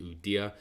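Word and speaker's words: Ueda: I think that the Japanese yen at the moment, their nominated new governor, I think his name, you pronounce it Udia.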